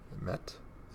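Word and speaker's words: Mete: And a Young Guns of Victor Met. Is it charging? Meti, I think is how you say it.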